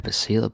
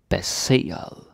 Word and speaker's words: baseret: And please pay attention with the pronunciation here, so you don't say baseret, like I see this sometimes with my students. They sort of contract it, like seer, like it's just one syllable, but it's not.